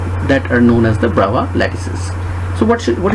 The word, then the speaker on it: Bravais: the fourteen brow lattices actually the spelling is bravais but its pronunciation is brava okay so and now